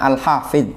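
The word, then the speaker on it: الحافظ: south Hai hole alhafidh itu bacanya alhafidh Ya bukan Lha Hai Kalau haid itu tembok dinding pagar Hai al-hafiz zulfatah berkat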